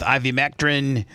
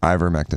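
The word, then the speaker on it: ivermectin: themsel about, hey, listen, I'm using zinc with ivymectrin. I always say it wrong. How do you say it? Ivormectin.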